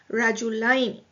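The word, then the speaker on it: رجلين: There is a fatha on the lam. So the pronunciation is Rajulaini.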